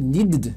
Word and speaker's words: needed: Need, needed? Não pode. Olha aqui, ó, need já tem o som de D. Quando terminar com o som de D, ele então vai ganhar uma sílaba.